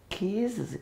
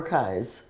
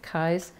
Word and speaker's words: Kies: now you mentioned Marietta keys keys or Kai's I thought for a long time it was pronounced keys because I thought it was a German pronunciation but it the family pronounces it Kai's I actually found a